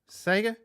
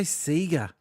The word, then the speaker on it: Sega: See, we pronounced it that way because in 1983, they had TV commercials for the SC3000 Sega John Sands personal computer. And that was the only thing we had to go with was the commercials. So it was that Sega from that point on.